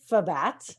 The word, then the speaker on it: FBAT: a little bit about what the heck is FBAT, that is how we pronounce it.